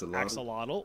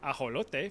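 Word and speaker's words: axolotl: You've probably been saying this as axelottle or aote for my Spanish speakers, but it actually comes from the nawat language.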